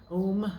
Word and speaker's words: om: a way of knowing the om which is om really is how you pronounce it i think the